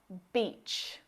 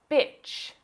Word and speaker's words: beach: If you mispronounce this long vowel sound and use the short I sound, you'll say bitch. That's a rude word.